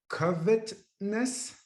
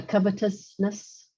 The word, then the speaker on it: covetousness: and about yourself right freedom from covet-ness am i pronouncing that properly yeah covetousness coveting other things jealousy